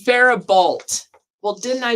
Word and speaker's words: Faribault: her pronunciation. It's Faribault.